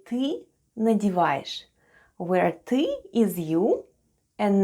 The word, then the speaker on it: надеваешь: Soft sign at the end of надеваешь doesn't affect the way we pronounce letter sh. And altogether it's надеваешь, надеваешь.